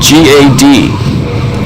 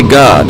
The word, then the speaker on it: Gad: And when I had to say it, the very thing I said is spelled G-A-D. I didn't say God. I was clearly trying to say Gad during this, but a